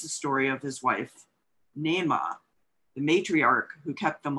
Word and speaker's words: Naamah: So I thought it was Nama. But Nema by Sarah Blake and published by Riverhead Books, which is an imprint of Penguin Random House.